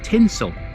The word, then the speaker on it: Tintwistle: Be careful how you pronounce the name of this one. You have to think Christmas. This isn't Tint Whistle. It's tinsel tinsel prince's riverf today